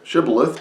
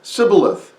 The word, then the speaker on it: shibboleth: pronounced the word shibboleth some said shibboleth just like i did and others said sybileth and it followed very